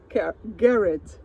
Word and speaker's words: Garrett: Hi, I'm here with Greg Garrett, and I just sounded like carrot. Garrett, yes. You said it beautifully.